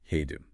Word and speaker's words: Hedone: Hedone, pronounced Hedone.